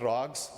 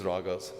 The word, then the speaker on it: ragas: The 31 chapters that I described, they are called ragas or rags. Sikhs call it rags. English pronunciation is ragas.